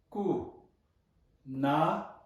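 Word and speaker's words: ཀུན: So if there is shabchu under a consonant followed by suffix na, in that case, how do we pronounce it? Example: ka, shabchu, ku, na, umlaut, kun, ka, shabchu, ku, na, kun, umlaut.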